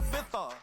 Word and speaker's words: Ibiza: Yeah, it's pronounced Ibiza, actually. What's the difference, man? Ibiza, Ibiza, you won't see me in neither.